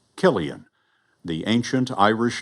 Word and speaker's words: Cillian: 2023 was the year the world learned to pronounce Killian the ancient Irish name seemed to be on